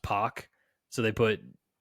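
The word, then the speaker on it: Pak: pack it's actually pronounced poac so they put p o c k in parenthesis rhymes with rock another good one uh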